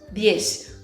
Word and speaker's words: diez: E o 10, olha só, aqui o som do DI. Então lembra daquela pronúncia lá do Nordeste do Brasil, diez.